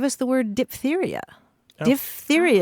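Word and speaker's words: diphtheria: the word dip theia di theia is the way you pronounce it because um part of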